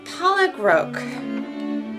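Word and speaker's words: pollock roe: is one strip of polyro. Pollock row. Pollock row. Did I say it right or wrong? Like Kevin Pollock the actor. And then row like you'll row a boat.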